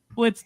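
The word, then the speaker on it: Biletnikoff: The Blitnikoff Award. Did I say it right? You did. Blitnikoff.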